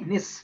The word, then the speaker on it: gneiss: See, nis, not gis, nis. Generally, it is pronounced as nis, gis silent, okay?